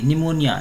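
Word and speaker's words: pneumonia: ठीक है, निमोनिया का स्पेलिंग यहाँ से स्टार्ट होता है, पी साइलेंट में रहता है और इसको पढ़ते हैं निमोनिया, NEUMONIA, निमोनिया।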